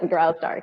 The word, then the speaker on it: Graustark: Is that how you pronounce that, Ron? I know you know this history. Yes, Graustark.